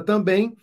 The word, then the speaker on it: também: bem olha aqui ó a última sílaba é a sílaba tônica logo não é palavra paroxítona mas sim palavra oxítona o item três ele